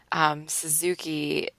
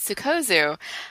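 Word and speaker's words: Sikozu: Suzuki, however you say her name. Sukozu. Suzuki is like a car. Superbike. No comment. Sukozu. So it's Sukozu. I had no idea what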